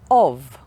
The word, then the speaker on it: of: like in love but there are two exceptions in english when we use different letters to represent the sound of these is a very common word of so the letter f actually has the sound like in a cup